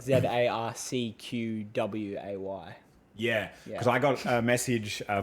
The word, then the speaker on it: Zarcquae: It's pretty much, it sounds like ZARCQWAY.